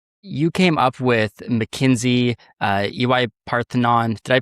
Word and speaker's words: EY Parthenon: You came up with McKinsey, EY Parthenon. Did I pronounce that right?